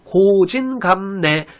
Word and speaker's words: 고진감래: 고진감래, 괴로움이 닿으면 즐거움이 온다. 고생 끝에 낙이 온다는 얘기죠. 표준 발음 고진감래, 미음하고 니을하고 만나니까 니을이 니은이 되죠. 비음화가 됩니다.